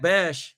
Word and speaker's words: Bech: But I don't know if it's Bech or Bech. I'm going to call him Bech, B-E-C-H.